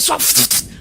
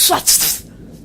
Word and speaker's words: Swatfh: Il s'appelle Soit... Non, Soit... Ça s'écrit S-W-A-T-F-H. Oui, donc Soit...